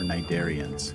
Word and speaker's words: cnidarians: All of these scyphozoans are cnidarians, the C is silent, relatives of sea anemones and corals.